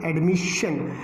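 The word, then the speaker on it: admission: अब ये जो एडमिशन वर्ड है, एडमिशन में भी हमने देखा कि SION से पहले S इस्तेमाल हो रहा है, तो इसको भी हमने जो है कैसे पढ़ा, हम इसको कहेंगे एडमिशन, यानी ये S इस्तेमाल हुआ, उन 6 अल्फ़ाबेट्स के अलावा ये अल्फ़ाबेट्स इस्तेमाल हुए, इसलिए इनको शा साउंड के साथ हमने पढ़ा है।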